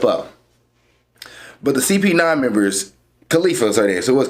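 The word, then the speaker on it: Kalifa: But the CP9 members, Khalifa's are there. So it was Khalifa. I did pronounce her name right.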